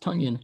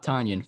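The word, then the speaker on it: Tonyan: Pronounced Tunyon, not Tanyan, for those who didn't know.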